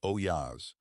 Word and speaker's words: olla: For more than 2,000 years, people have used ollas, pronounced oyas, to water plants slowly and efficiently.